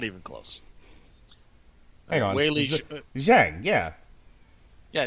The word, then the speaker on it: Zhang Weili: Weili Zhang, yeah. Yeah, Zhang Weili.